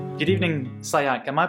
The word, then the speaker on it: Sayak: Good evening, Sayak. Am I pronouncing your name correctly? Yeah, absolutely. That's the correct Sayak. pronunciation.